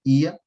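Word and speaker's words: Oia: Santorini Principalmente quando visitamos a Vila ia ou como se escreve oi ah mas ia a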